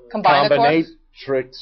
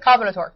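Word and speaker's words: CombinatoRx: How'd he say it? Combinatrix or something like that. Combinatorix.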